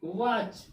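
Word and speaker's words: watch: यानी CH से पहले क्या आ गया? टी आ गया, टी हो गया साइलेंट। जब टी हो गया साइलेंट तो WACH, वॉच। वॉच मीन्स घड़ी।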